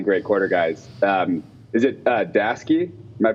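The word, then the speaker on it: Daseke: Is it Dasky? Am I pronouncing that right? Yeah, Dasky.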